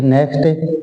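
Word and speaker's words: knock: होता है झुकना फर नेक्स्ट 18 नंबर का वर्ड है नॉक तो नॉक का मतलब होता है के नौक में के साइलेंट रहता है और इसका मतलब होता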